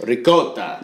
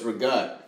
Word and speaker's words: ricotta: And I know that in proper Italian, it's pronounced ricotta. Yeah, ricotta. Yeah, right. But she says, "Oh no, it's rigat."